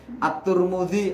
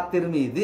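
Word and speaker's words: الترمذي: Misal nih, At-Turmudi apa At-Tirmidzi apa At-Tarmidzi. Itu tiga-tiganya bisa itu Mbak. Karena memang ternyata At-Turmudi, At-Tarmidzi dengan At-Tirmidzi itu bukan orang Arab, orang Ajnabi, dia orang yang di luar.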